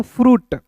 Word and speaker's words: fruit: तो क्या पढ़ेंगे दोस्तों, फ्रूट। तो यहाँ देखेंगे FR है तो फ्रॉ लिखेंगे, U का उच्चारण उ के रूप में होता है, T का टॉ होता है और यहाँ पे दोस्तों आई साइलेंट होता है।